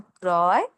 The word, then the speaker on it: ক্রয়: আবার বলি, শব্দের শুরুতে যদি রফলা অধ্বনি থাকে, তার সঙ্গে যদি রফলা থাকে, তাহলে অ এর উচ্চারণ হবে ও এর মতো। কিন্তু এরপর আবার অন্তস্থ অ থাকলে অ এর উচ্চারণ অ এর মতোই হবে।